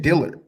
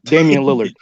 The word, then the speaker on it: Damian Lillard: You said Dillard. Oh, Damian Lillard.